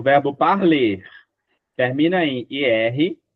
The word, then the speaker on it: parle: E por que que eu não falo o e forte? Porque ele não é pronunciado. Esse ezinho no final a gente não pronuncia. Sémonia. Esse outro ezinho também não pronuncia. A gente termina no L.